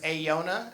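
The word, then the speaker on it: Aeiou'na: Her name is Ayona. Ayona is spelled A-E-I-O-U apostrophe N-A, because her parents really took their vows seriously.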